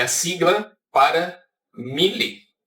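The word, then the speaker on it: μ: Se escreve muu, mas se pronuncia mi.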